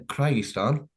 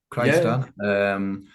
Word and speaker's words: Kyrgyzstan: So it's from a place called, if I pronounce it right again, Kyrgyzstan with a K. Kyrgyzstan.